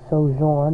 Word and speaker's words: Sojourn: It's a Shimano Sojourn, I believe is how you pronounce that. S-O-J-O-U-R-N. I think it's Sojourn.